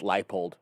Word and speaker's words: Leipold: I just can't believe that his last name is pronounced Leipold.